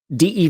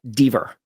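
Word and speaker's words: Dever: saw as well a consonant following a single consonant following a vowel is a hard vowel. Dee v is pronounced dver. D v would be de.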